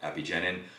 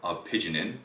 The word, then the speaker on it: apigenin: video i talk about epigenin or apigenin however you want to pronounce it i'll put a link